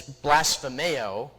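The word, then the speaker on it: βλασφημέω: The Greek word that is used for that is blasphemeo. Sounds like the word blasphemy.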